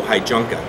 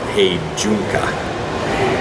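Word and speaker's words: heijunka: build to the customer demand and we follow Hy junka which is actually pronounced he junka uh and that's leveling of volume and variety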